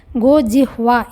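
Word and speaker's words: गोजिह्वा: आकारांत स्त्रीलिंग प्रातिपदिक है, पर उच्चारण में ध्यान रखेंगे। हकार यहाँ पर हलंत है, गो जिह्वा इस तरह से उच्चारण करना है।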